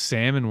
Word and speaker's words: salmon: no longer a thing like salmon will be spelled s m o n it will not have an L in it well it has the